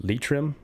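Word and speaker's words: Leitrim: in the county uh I believe it's pronounced Litrim, which is a county in Ireland.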